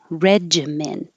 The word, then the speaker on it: regimen: So this one, the most common one is a j. Regimen. Regimen. But it could also be regimen.